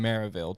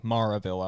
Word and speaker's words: Maryville: So after the show, it was in a cool little venue in Maryville, Tennessee. Maryville, I was told.